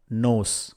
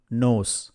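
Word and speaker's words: knows: நாட் எட் நாட் எட் எழுந்திரு wake up wake up யாருக்கு தெரியும் ஹூ நோஸ் ஹூ நோஸ் இந்த நோஸ்ல பார்த்தீங்கன்னாஃர்ஸ்ட் கே வருது ஆனா வந்து கே சைலண்டா இருக்கும் நாம அதை உச்சரிக்க மாட்டோம் சுற்றி பார் லுக் அரவுண்ட்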